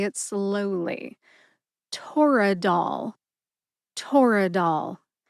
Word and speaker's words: Toradol: As for the brand name Toradol, Toradol has 3 syllables and a lot less controversy on the pronunciation. Tor, which rhymes with door, which is a short A sound or a schwa A sound, and dol, like dolphin. Put all 3 syllables together and you get Toradol. Emphasize TOR and DOL.